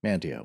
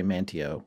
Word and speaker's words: Manteo: or manteo how do you say it mantio i'm pretty sure north carolinians say mantio you know i don't know